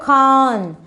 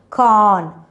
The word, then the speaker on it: corn: will be silent but the r will be there isn't it corn corn you're getting end n sound at the end con yeah now we